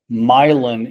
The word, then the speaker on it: Milan: We have Milin Illinois instead of Milan, Illinois.